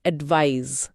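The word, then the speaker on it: advise: ये जेड की ध्वनि के साथ खत्म होता है। एडवाइज। एडवाइज Z sound.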